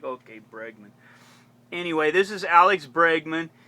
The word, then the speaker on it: Bregman: I I would be I keep mispronouncing I'd call him Bergman Alex Bergman I don't know why I kept saying Bergman Bergman Bergman then I looked at it closely and it said bregman and I'm like okay